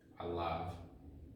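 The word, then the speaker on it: עליו: Alav, here you actually pronounce the vav as a v, alav.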